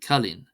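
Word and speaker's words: cailín: So we have banish, banish, banish, banish, meaning wedding, and kalin, kalin, kalin, kalin, kalin, meaning girl. Then we have IO is pronounced as an I.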